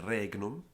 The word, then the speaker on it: regnum: Alan in walks Latina the only time we pronounce of our long in front of GN is regnum segnis and all other cases of the vowel before GN are actually pronounced shot agonos Magnus ignis dignus ignotus not ignorance which if you